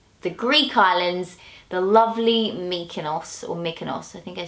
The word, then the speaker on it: Mykonos: Greek islands the lovely Mykonos or Mykonos I think I say you're wrong Joe how do you say make an ass making us Mikan off and they say it so not making us okay oh really yeah